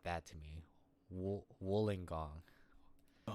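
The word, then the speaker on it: Wollongong: Woolingong. Woolingong South. Woolingong. Woolingong. Okay, I I can see it now. Wooling gong. The double L threw me off for sure.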